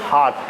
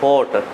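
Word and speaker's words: heart: इसके पहले लगा देता हूँ, होठ तो लिप्स होते हैं, तो इसको वो वैसे इसका प्रोनाउंसिएशन है वो हार्ट, क्या होता है, हार्ट, नॉट होट।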